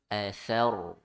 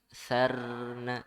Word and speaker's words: فأثرن: Nah, ro sukun sebelumnya fathah dibaca tebal ya. Athar, thar ya. Jadi jangan fa'atharna, sarna itu salah ya. Di ro sukun sebelumnya fathah dibaca tebal, tafkhim ya.